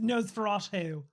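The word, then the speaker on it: Nosferatu: This was me doing nose feratu. You know what? I'm impressed you're pronouncing it right.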